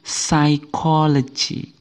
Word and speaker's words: psychology: psychology bukan jadi dibaca psychology Jadi huruf p-nya huruf P pada kata ini tidak ikut dibaca Oke kalau sebelumnya dibaca